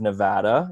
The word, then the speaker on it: Nevada: in Reno in the great great state of Nevada yup that's how we pronounce it here where I was proudly born